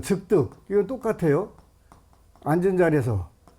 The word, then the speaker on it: 즉득: 그래서 그걸 뭐라고 표현하냐면 즉득 성취한다. 그러니까 여러분들이 소원 성취를 그 하고 싶다 그러면 어떻게 하면 돼요? 지장경을 기도하면 돼요. 이게 요거는 즉득이라고 읽어요.